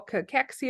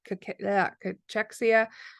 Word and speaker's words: cachexia: and bones would be what we call cachexia or cachexia. I've heard it said both ways. I usually say cachexia, but again, I'm probably saying it wrong.